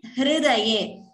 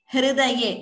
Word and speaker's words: हृदये: The way it is pronounced is Hridayam. Hridaye. It is not Hru. It is not Hrudayam. It is not that Ukara. It is Hrukara. So Hridaye.